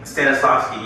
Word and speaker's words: Stanislavski: Stanislavski, yeah.